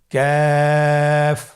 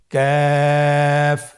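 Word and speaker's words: كاف: কাফের মাখরাজ হলো জিহ্বার গোড়া থেকে একটু আগে বাড়িয়ে তার বরাবর উপরে তালের সঙ্গে লাগিয়ে উচ্চারিত হয়। তাহলে আমরা কফ যেখান থেকে উচ্চারণ করেছি একটু আগে বাড়িয়ে সেখান থেকে আমরা তার বরাবর উপরে তালের সঙ্গে লাগিয়ে হরফটি উচ্চারণ করব।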